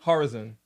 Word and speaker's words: Horizon: Horizon. Like horizontal. Horizon. Rhymes with Verizon.